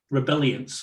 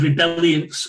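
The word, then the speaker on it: Rebeliance: very popular one james rebellions rebellions or rebel alliance whatever you want to call it rebel r-e-b-e-l-i-a-n-c-e rebellions i think is the pronunciation again from the research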